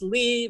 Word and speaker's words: Lea: And because I love the ocean so much, I like to say it's Lee rhymes with sea.